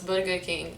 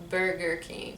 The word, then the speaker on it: Burger King: sounds a bit french burger king we say about a good king we we actually roll the rs a bit not like americans they have the r sound we don't have that so it's burger king it's not burger king starbucks probably gonna say